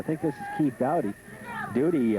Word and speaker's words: Doughty: Doody I I say Doughty. I went to school with a Doughty, but it's spelled spelled very similar, but it's Doody, d o o d y.